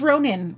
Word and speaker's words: Ronen: Oh, my name's Ronin. Ronin. Uh, if you think of like if you pronounce it kind of like like Ronin, that's that's Yeah, Ronin.